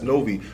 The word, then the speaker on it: NOVEE: Let me mix that up, chop it up, condense it, make my own pronunciation. That's NOVEE.